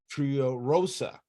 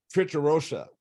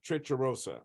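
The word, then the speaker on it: Tricherousa: On this left-hand side is the holy icon of Panagia Triorosa. Sorry about that. Trichorosa is what it is. The holy icon of Panagia Trichorosa.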